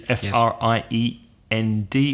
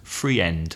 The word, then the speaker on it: friend: sound in English a one common example is is friend which is fr ie nd which many Spanish people pronounce free end yes my free end is coming out tonight I'm going to meet my free end but there's only one vowel sound in there and it's a friend another one me me-80